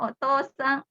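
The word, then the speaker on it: お父さん: Ini kan tulisannya otou-sang ya. Tapi dibacanya oto-sang. Ini to-nya panjang, O-nya dipanjangkan.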